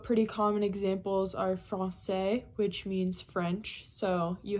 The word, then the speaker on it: français: a little squiggle, and it's pronounced like an S. So whenever you see a C with an accent cédille, you pronounce it as you would if there were an S there.